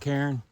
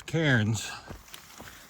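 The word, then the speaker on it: cairn: Woods they'll build those carons to help guide us and it's spelled c a i r n not k a r n so just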